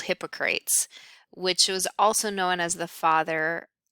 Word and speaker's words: Hippocrates: So um, really, as we look at most of the history, it really starts with a Greek physician called Hippocrates, which was also known as the father, or Hippocrates is probably yet another way you would pronounce that.